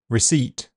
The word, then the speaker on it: receipt: The letter P is silent in several common words. Cupboard, receipt, raspberry, psychiatric, psychology, coup, pneumonia to name a few.